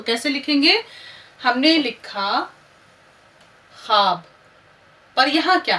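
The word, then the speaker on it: خواب: हमने लिखा ख्वाब, पर यहाँ क्या है, इससे पहले मैं आपको वो वाव सिखा चुकी हूँ कि जो खामोश रहता है, पर इसमें आप देखिए खे वाव अलिफ बे ख्वाब।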